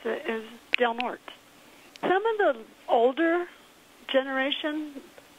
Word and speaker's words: Del Norte: I mispronounced del north Bruce insisted that the pronunciation is Del Norte well Bruce this is one that we already